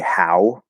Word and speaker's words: how: And it never, even though the spelling, like say how is spelled HOW, there's no W sound there. It's just the end of the ow diphthong, which doesn't go all the way into W.